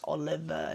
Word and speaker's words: Oliver Tree: But why can the Spotify DJ not say Oliver Tree?